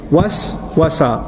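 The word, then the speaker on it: وسوسة: Was-wasa, was-wasa, was. You see the two syllables together? In Arabic, when you whisper something, it's called hamasa. When you whisper over and over again, and you don't stop, it's called waswasa.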